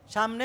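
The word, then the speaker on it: ثاء: উচ্চারণ শিখাবো কেমন এভাবে সাটা নরম করে উচ্চারণ হবে শক্ত যাতে না হয় শক্ত হলে সেটা সিনের উচ্চারণ হয়ে যাবে সিনের উচ্চারণ হলে সেটার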